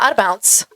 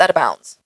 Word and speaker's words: out of bounds: wrong my entire life it's not out of Bounce it's out of bounds we're like what why